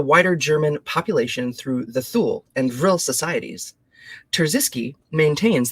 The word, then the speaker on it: Thule: the Thule, that's how you say it, the Thule, and Vril, and the Black Sun.